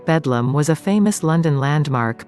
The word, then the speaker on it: Bedlam: Londoners abbreviated Bethlehem Hospital to Bethlehem, with a colloquial pronunciation of Bedlam.